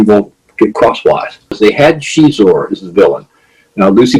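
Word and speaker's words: Xizor: Portuguese and so the the pronunciation of that XI is sh and so they had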